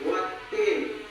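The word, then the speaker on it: وَالتِّين: Wattin. Hukum bacaan tajwidnya ada dua macam. Pertama, alif lam samsiah. Karena huruf lam bertemu ta, cara bacanya idgham atau masuk ke huruf ta.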